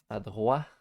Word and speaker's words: adroit: Adroit. Adroit is how you English people pronounce it.